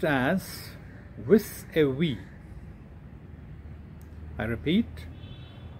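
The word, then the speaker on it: vis-à-vis: to see in a couple of examples it's pronounced as with a we i repeat with a v and it means in relation to with regards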